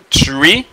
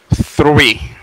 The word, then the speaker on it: three: Ça c'est pas tree. OK? Ça c'est pas tree. OK? Assurez-nous que nous dit bien parce que th là il gagne un son f. OK? Donc nous prononcer li three.